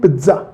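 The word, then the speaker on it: pizza: देखिए इसकी right pronunciation होती है पिज्जा। क्या? पिज्जा, पिज्जा नहीं, पिज्जा।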